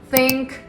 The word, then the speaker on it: think: Many people say think or this, but the correct sound is different. Here's how to fix it. Place your tongue slightly between your teeth like this and gently push air out.